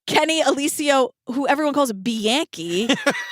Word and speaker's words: Bianchi: And then meanwhile, we meet his cousin, Kenny Alicio, who everyone calls Bianchi. How do you say it? It's Bianchi. It's Bianchi. That's how you said Yeah, it. Bianchi, exactly.